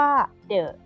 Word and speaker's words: the: ประเภท นี้ นะ คะ จะ เรียก ว่า เดอะ ก็ คือ T แต่ ถ้า นำ หน้า คำ นาม ที่ เคลื่อน ต้น ด้วย สระ หรือ เสีย สระ เรา จะ เปลี่ยน การ ออก เสียง ให้ เป็น ติ แทน นะ คะ ซึ่ง The